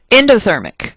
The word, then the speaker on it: endothermic: Endothermic, hopefully something you already know. Endo, I know it's spelled E-N, but it sounds like the word you are very familiar with, in, like endothermic, means it takes energy into the system.